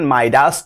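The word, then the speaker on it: Midas: मिडाज touch का मतलब क्या होता है, प्रोनाउंसिएशन माइडास टच होता है।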